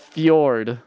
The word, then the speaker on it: fjord: town after after like it's pronounced Fjord oh okay like the truck um foreign oh I would know that if I played Dragon Quest 11.